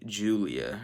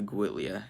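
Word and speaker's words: Giulia: looking Alpha Romeo is the Julia or the guilla it depends on where you're from how you pronounce it second to last spin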